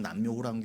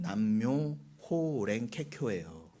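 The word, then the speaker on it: 南無妙法蓮華経: 남묘호랑 남묘호 랭케쿄 이렇게 그거를 우리 지금 남묘호라 이러는데 정확한 발음은 남묘 호랭케쿄예요.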